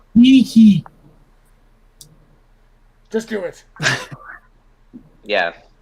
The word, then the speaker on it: Nike: it pronounced? Nike.